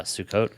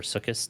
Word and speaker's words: Sukkot: jewish holiday of uh sukkot or sukis depending on how you pronounce that whichever uh you know side of things you're on ashkenaz or israelis or swardy or whatnot um but